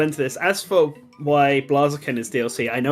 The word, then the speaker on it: Blaziken: Yeah, no, I always call it Blaziken, but then I was like, I'm now getting really paranoid about how I'm pronouncing things, and there's no E in there. Blaziken is right though.